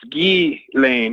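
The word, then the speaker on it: Ghislaine: like Elaine but it's gay Lane instead of Ealing the S is silent because it's a French name and you know I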